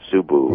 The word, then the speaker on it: Subud: food series Ubud is how they say it subbu okay I got you that if they never